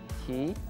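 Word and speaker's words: 티: В Корее, если ты знаешь английский язык. Поэтому t-shirt превратилось в t-shirt. T-shirt. Помягче, не ты, а ти.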